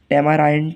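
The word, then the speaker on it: tamarind: ठीक है, टैमाराइंड, टैमारिंड पढ़ते हैं लोग इसको, टैमाराइंड आई आ रहा है तो टैमाराइंड पढ़ेंगे हम इसको।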